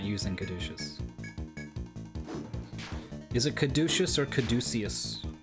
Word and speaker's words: caduceus: Caduceus. But which syllable has the stress? I've been putting it on the do.